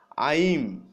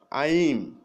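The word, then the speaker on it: I'm: তারপরে দেখুন আই এম, এর সঠিক উচ্চারণ হলো আইম, আইম, আইম।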